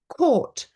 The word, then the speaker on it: caught: So GH is not pronounced before T at the end of many words. So a lot of them are the past simple irregulars. Thought, bought, brought, caught, sought. These are all irregular past simple verbs. And it's always, we've got GHT at the end, but we don't pronounce the GH.